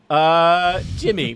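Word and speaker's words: D'Jimy: Jimmy, but it's spelled like with an apostrophe instead of with an I.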